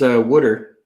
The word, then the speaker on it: water: But the big thing around here is wooder instead of water.